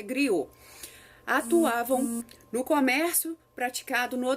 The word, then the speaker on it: griot: oral são os gritos escreve-se griotto mas a pronúncia griou atuavam no comércio praticado